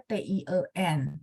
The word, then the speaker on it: tian: baca th ya oke Tian ya memang bacanya dia Tien tapi tulisannya Tian Oke jadi ada cincin Saya